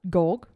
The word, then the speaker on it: Georg: Gorg. It's like a George without the E. Okay. Y. All right. George without your E.